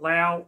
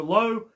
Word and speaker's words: Lao: the circus of Dr Lowe yes it's pronounced low not loud I got that wrong